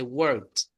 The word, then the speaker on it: worked: Dice worked. Vamos a usar esa ED como si fuera una T.